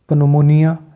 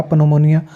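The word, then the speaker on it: pneumonia: learn कर रहे हैं कि पी कब साइलेंट होता है जब ये ए और एस से पहले आ जाए जैसे नमो निया इसको निमोनिया हम कहते हैं तो इसमें आप प देखें तो निमोनिया हम पढ़ते पढ़ते भी है और हर एक को पता कभी-कभी किसी ने कहा पनमनियन मोनिया तो पी यहां पे साइलेंट हो जाता है पनमनियन बनेगा निमोनिया इसको पढ़ा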